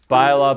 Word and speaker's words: baila: So the bala bala bala is confusing because of where the last lie syllable lands. Baila. Oh, baila?